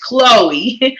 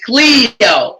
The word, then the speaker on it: Cleo: is pronounced from my understanding or i was pronouncing it as chloe and her name is pronounced as cleo okay so please forgive me i think i'm